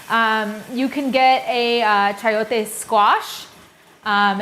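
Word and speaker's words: chayote: Um you can get a chiote squash. Um it's spelled ch h a y t o e.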